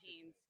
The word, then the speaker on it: Haines: Okay, and how's it pronounced again? You could just say Haynes.